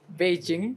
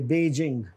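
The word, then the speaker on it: Beijing: में रह रहे हैं they will miss pronounce this word बेजिंग है ये बेजिंग नॉट बीजिंग और आगे ू ह्यूस्टन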